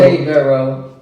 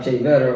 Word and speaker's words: Cheverro: Cheverro, or you can roll the R, Cheverro, however you want to say it.